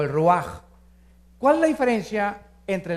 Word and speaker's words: ruach: se pronuncia nepe porque la ch en hebreo es j nep y la palabra espíritu es ruaj se escribe ruach entonces